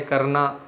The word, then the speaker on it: क्री: लिट लकार बेटा क्री पढ़ना है, आप क्रय नहीं पढ़ेंगे इसको, क्री, क्योंकि ये जो मात्रा है री की है, ऋषि वाली री, और उसका उच्चारण री की तरह होता है।